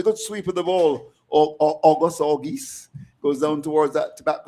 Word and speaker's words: Auguste: Well, I initially thought it was August. August. I just thought that the E was stylish. Okay, again. okay. Just there. Yes. It's Auguste, I think.